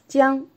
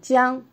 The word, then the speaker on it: 江: Jiang, river. The first tone, Jiang.